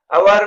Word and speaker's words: hour: अवर में S silent है और ओ वावेल साउंड, इसलिए अवर से पहले एन यूज होगा.